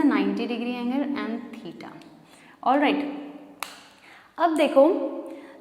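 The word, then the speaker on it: theta: थीटा इस तरीके से कुछ बनता है और इसको प्रोनाउंस करते हैं थीटा.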